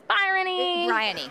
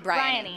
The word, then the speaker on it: Briony: Because I read the entire book thinking it was Briony, but then maybe it was Byrony. Briony.